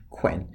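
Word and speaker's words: cwēn: Notice the Old English version, the Anglo-Saxon version, quen, Cwen. Okay, spelled very phonetically, much shorter vowel sounds.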